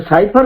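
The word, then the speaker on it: cipher: ଟିକେ ପାର୍ଥକ୍ୟ ରହୁଛି ଯେ ସାଇଫର କହିଲେ ତା ଭିତରେ କିଛି ଅନ୍ୟ ଜିନିଷ ଅଛି। It is a sign of something else inside. ଅବଶ୍ୟ ତାକୁ ଅନେକ ସିଫର ବୋଲି ମଧ୍ୟ ପ୍ରୋନାଉନ୍ସ କରନ୍ତି, and both pronunciations are correct.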